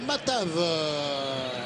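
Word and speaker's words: Matavž: Birsa et puis enfin matavez ou matvez le numéro 23 lui va remplacer le numéro 18 berdac alors c'est matav voilà c'est c'est matav team voilà désolé pour la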